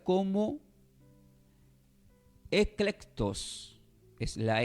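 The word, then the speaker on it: ἐκλεκτός: este está del griego del griego y se pronuncia como eclectus es la e la c de kilo la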